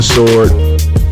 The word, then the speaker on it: sword: with that if you falling on the sword with the silent W then I'm falling on